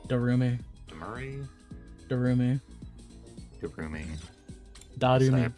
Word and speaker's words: Darumi: I'll ask Kiriko and Damari. Darumi. Damari? Darumi. Darumi. So I Darumi.